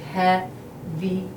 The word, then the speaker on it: هذه: And we barely pronounce the H on the هذه for the school.